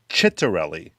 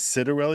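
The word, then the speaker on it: Ciattarelli: lot of people who talk politics it's actually pronounced chittarelli yes yeah i i hear all these people everyone refers to him as citarelli because i think they're afraid that saying it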